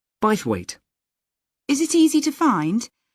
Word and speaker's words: Bythwaite: do you spell that b why t h w a i t e bite weight is it easy to